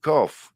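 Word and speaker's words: Corfe: Cough. You pronounce it. You say a Yorkshireman. I'll pronounce every letter. Well, it'd be cough. As in F. Yeah, we coughed it. Yeah, it's you're on the right track.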